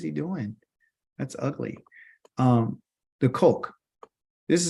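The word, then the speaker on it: חוק: The kok. This is how you say decree in Hebrew. And it's spelled CHOQ.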